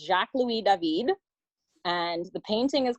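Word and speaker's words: Jacques-Louis David: by an artist called I know it looks different in English but in French it's Jacques lui Devine and the painting is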